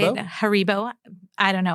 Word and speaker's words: Haribo: Haribo. I don't know. I say Haribo. Sounds like hair bow.